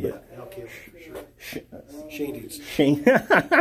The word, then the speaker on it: Schoendienst: interested in, that red Schoendice. Oh, Schoendice, yeah, red Schoendice. I love how it's like a name that I have never heard pronounced the same way twice, I don't think.